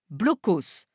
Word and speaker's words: Blockhaus: Nous, en France, nous les appelons blocos, prononcés à la française.